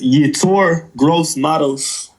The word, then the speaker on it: Yetur Gross-Matos: Could somebody pronounce his name for me? It's Yetur Gross-Matos.